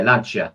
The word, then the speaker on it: Lancia: I think when people say Lancia. I mean, Lancia, I think would be said Lancia. It's Lancia. Yeah, Lancia.